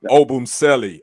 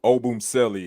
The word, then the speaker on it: Obumseli: that i don't know obumselli oh boom selly is how i heard it pronounced what y'all heard of